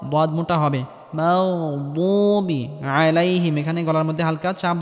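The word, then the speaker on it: عَلَيْهِمْ: থাকবে এখানে দাল বলা যাবে না মোটা হবে আলাইহিম এখানে গলার মধ্যে হালকা চাপ দিয়ে উচ্চারণ করতে হবে আলাইহিম এখানেটিকে মোটা করে উচ্চারণ করতে হবে এবং হালকা আওয়াজ জারি রেখে উচ্চারণ করতে হবে।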